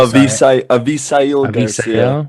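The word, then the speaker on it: Avisaíl: it alex garcia asi val garcia hassival garcia avisa yeah there you go thank you i just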